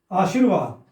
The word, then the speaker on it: आशीर्वाद: ध अधता ठीक है आशीर्वाद इसमें क्या गलती है आशीर्वाद र कहां आ रहा है इसमें बीच में आशीर आशीर्वाद स के बाद आ रहा है ना र उच्चारण में और इसका अर्थ भी